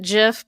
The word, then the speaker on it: GIF: it oh the Creator I've heard that the Creator actually pronounces it JF but I no it